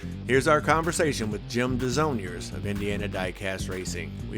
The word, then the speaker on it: Desaulniers: This week we have Jim Desaulniers here with us from Indiana Diecast Racing.